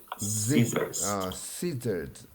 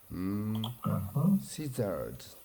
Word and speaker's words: scissors: is scissors scissors so even though it's double s pronunciation is scissors scissors yeah thank you okay